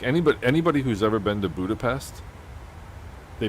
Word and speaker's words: Budapest: Just pronounce it the way it's pronounced in English.